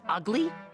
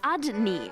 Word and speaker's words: Udney: Didn't he say his name was Ugly? It was Udney, and you know it.